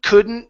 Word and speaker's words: couldn't: When you have words that like wouldn't, same thing. Wouldn't, couldn't, shouldn't. Okay? Mix the D and the N together. You're going to focus more on the N than the D.